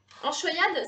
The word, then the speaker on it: anchoïade: Enchoyade, ça s'écrit A-N-C-H-O-I-A-D-E.